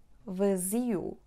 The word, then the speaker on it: vazio: Vazio, va. Z, u. Again, in the first syllable, closed sound a. V. Z, u. The stressed syllable is the penultimate one, which is z.